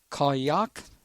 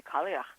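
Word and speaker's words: Cailleach: it my best uh was called kayak yeah the Kalia oh Kalia okay and how is she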